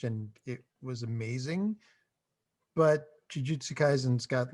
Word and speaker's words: Jujutsu Kaisen: fit in a box for the poll, and Jujutsu Kaisen. Is that how you pronounce it, John? Yeah, Jujutsu Kaisen.